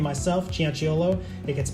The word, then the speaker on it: Cianciolo: I have a hard-to-pronounce last name myself, Cianciolo. It gets mispronounced constantly, so I know what that's like.